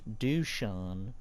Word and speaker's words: Dusan: So, how did Ubisoft manage to make Dusan? Yes, that's how you pronounce his name.